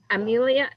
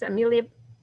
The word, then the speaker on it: Amelia: Yeah, Amelia, I'm saying it wrong. It's Amelia, like Earhart.